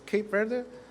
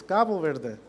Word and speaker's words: Cabo Verde: Some of you may heard about it as Cape Verde, but the official pronunciation is Gabo Verde.